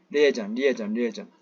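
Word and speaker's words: liaison: 레오잔, 이렇게, 그러니까, 리에이전이라고도 발음을 합니다. 발음 주세요. 리에전.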